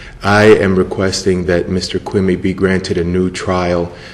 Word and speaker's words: Quimi: So we'll start with the first case, which is ELVIS QUIMI. I'm not sure I'm pronouncing it right, versus State. That is the correct pronunciation, Your Honor.